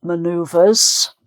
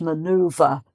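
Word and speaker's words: manoeuvre: pronounced manured but we we change this the pronunciation to sound more English maneuver maneuver so that has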